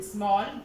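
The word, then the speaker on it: small: एस एम A double L स्मॉल, स्मॉल means छोटा, यानी ए का उच्चारण क्या हुआ, ओ, यानी ऑल, फॉल, कॉल, वॉल, वॉर, स्मॉल, ठीक है।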